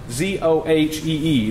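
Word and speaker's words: ζωή: is pronounced it well as pronounced though it's pronounced felt like zoh EE that's how you pronounce it but it's literally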